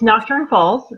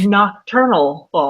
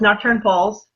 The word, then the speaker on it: Nocturne Falls: No, it's Nocturne Falls. It's not Nocturnal Falls. That's what I almost said. Yeah, no, I get that. It's okay. No, it's Nocturne Falls.